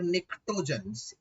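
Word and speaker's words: pnictogens: रखा निकोजेंस या फिर निक्टोजेंस, पी इसमें साइलेंट होता है, इसका मतलब होता है टॉक्सिक।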